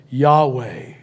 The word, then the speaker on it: Yahweh: allowed to pronounce it, It's usually pronounced something like this, Yahweh. He said, if you take those consonants that word is spelled with, they do not allow you to close your lips or use your tongue. They demand that you keep the vocal channel completely open.